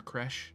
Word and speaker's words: Kresh: Or Kresh, as it's supposed to be pronounced, and I always call it Kretch for some reason.